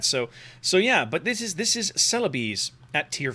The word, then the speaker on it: Celebes: Now, I'm sure that most of us in the West didn't know that's how you were supposed to pronounce this. My whole life, I've looked at this word and said, oh, it's the Celebes.